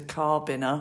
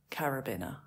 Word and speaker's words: carabiner: Rope which was a carbiner I think I said carbin to begin with but it was carabin oh I remembered it a little bit but not the correct pronunciation again I've got a